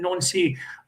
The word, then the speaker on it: Nancy: So is he playing mind games with a certain Wilfred Nancy, who's pronounced the same as the town Nancy?